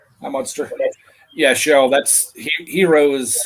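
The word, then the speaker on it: gyro: Yeah, and they say euro. And that's how they pronounced it too. Kind of in between an H and a Y.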